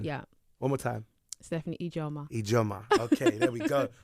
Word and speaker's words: Ijoma: So the actual pronunciation is Ijoma.